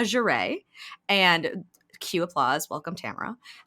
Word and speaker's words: Tamara: But it's Tamara Jerée. And cue applause. Welcome, Tamara. Rhymes with camera, if you didn't know.